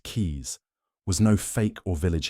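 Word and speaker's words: Caius: John Kais pronounced keys was no fake or village healer.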